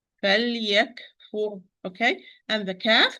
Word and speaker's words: فليكفر: فليكفر, here I have lam with سكون in between letter, kaf with سكون, okay? So and when I pronounce the lam, it's in between letter, give it its time. فليكفر, okay?